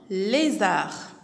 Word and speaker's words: lézard: Un lézard. Un lézard. L et les. Z-A-R. Zar. Le D est une lettre muette ici. Je ne la prononce pas.